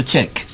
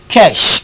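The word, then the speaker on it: Čech: check this was his this is surname better check check is spelled see ec h c ec h does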